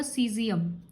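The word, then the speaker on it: caesium: Exception जैसे सीजियम, इसका pronounce होगा सीजियम।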